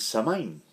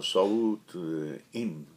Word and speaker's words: Samhain: los irlandeses celebraban el samhain yo lo pronunció tal como los leo creo que la pronunciación original es algo así como soul en resumen era el